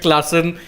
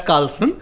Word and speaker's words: Klaassen: once I ended up referring to Heinrich Klaassen without realizing it on air as Carlson, Yeah. because someone called him Carlson.